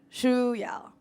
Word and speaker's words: Shuyao: but my name is Shu ya so it's very difficult to pronounce but if you're interested it's pronounced like the shoes you're wearing and Y so shoe y czy uh but I